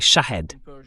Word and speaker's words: Shahed: Le nom, la prononciation correcte en perçant, c'est Shahed. Shah ça veut dire témoin mais Shahid en perant veut dire martyre.